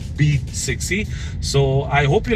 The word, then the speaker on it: BE 6e: It is BE6E, but they pronounce it as B6E.